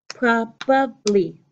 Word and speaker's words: probably: using for this would now my beautiful pronunciation would be three pieces probably probably remember probably is talking